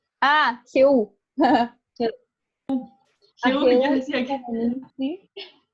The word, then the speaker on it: Jehú: ¿Ahí cómo se pronuncia? Jehú. Ah, Jehú.